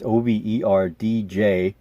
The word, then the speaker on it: overdijki: It's Overdjeki. So I'm not sure if the D is silent or the J is silent, or if anything is silent there.